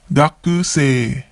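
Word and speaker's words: 学生: Gakusei. Gakusei. Notice how we don't pronounce the U in the ku syllable.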